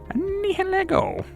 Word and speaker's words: Nihilego: Actually, according to the text, the Hoenn guidebook, it's pronounced Nihilego.